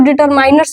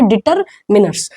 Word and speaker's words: determiners: है तो कि डिटरमिनर्स, अच्छा बहुत लोग इसको डिटरमाइनर्स भी बोलते हैं, ठीक है। प्रोनाउंसिएशन पे हम ज्यादा नहीं जाएंगे, डिटरमाइनर्स जो है इसका गलत प्रोनाउंसिएशन है, लेकिन आप बोल के काम चला सकते हैं, उस पर ज्यादा नहीं हमको जाना चाहिए, है ना। लेकिन आप ये जान लीजिए कि क्या है ये सही, इसका प्रोनाउंसिएशन क्या है, डिटरमिनर्स।